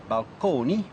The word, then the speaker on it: balcony: So balcony, still pronounced at that time in the Italian manner, balconi, as well as fresco,